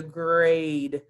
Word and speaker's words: grade: Our boys and girls talked about that super E that's making the A say A instead of A. We don't say it's a a grada A. You don't get a grada A. You get a grade. That E is silent, but it must be there in spelling. It must be there, but it's silent.